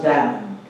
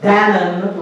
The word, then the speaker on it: Danu: two the people of the goddess down not the yogurts dannon refers to a river